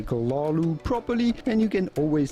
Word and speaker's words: Cthulhu: that word essentially most people say it either cthulhu or cthulhu there is a great complete video explaining precisely why none of these pronunciations are ones that offer hp lovecraft himself